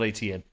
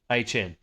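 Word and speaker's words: Etienne: It's not ETN. What is it? What is it? I'm going to have to find that clip for you. Okay. The correct way to say Travis's name, we found out from Travis, is actually HN.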